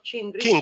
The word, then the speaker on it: Chindris: Maddalena Cindrish, giusta la pronuncia Igor? Cindrish.